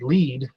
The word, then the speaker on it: lead: we do, and that I wanted it to say lead, but it pronounced it as lead.